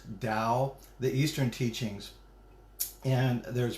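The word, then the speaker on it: Tao: which is spelled ta and it's but it's pronounced Dow the Eastern teachings and there's breathing techniques and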